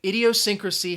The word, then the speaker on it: idiosyncrasy: back to the pronunciation idiosyncrasy has six syllables now if you're wondering